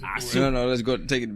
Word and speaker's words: Azul: We had to say it right. It's Azul.